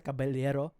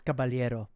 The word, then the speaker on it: Caballero: So I've been mispronouncing kasa cababelero or cababayero a few times. It's Cababalero.